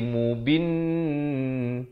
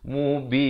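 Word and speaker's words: مُبِين: barulah kita masukkin diakhir jangan masuk Awal jadi mubin tak betul mestilah mubin ujung baru masukkin untuk mari lissukun disini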